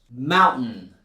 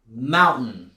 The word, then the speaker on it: mountain: You can still say mountain, kitten, and Britain. That's 100% correct. But in spoken English, most Americans don't pronounce it like that. They'll rather replace it with this glottal stop.